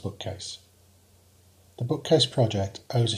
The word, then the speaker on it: BKCASE: of knowledge and curriculum to Advanced systems engineering pronounced bookcase the bookcase project owes a huge debt to